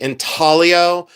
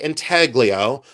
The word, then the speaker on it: intaglio: This is intaglio, and yes, in um in Ohio, we do pronounce the G. Some people say intaglio, I say intaglio.